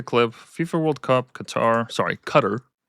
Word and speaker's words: Qatar: I guess you pronounce that cuz it's cutter cutter.